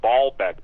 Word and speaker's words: Baalbek: Same thing with Baalbek, B-A-A-L-B-E-K.